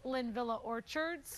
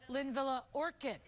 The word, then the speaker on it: Linvilla Orchards: fact mike and alex sometimes people mispronounce lin villa orchards oh and they call it right they call it linvilla orchid so um nobody there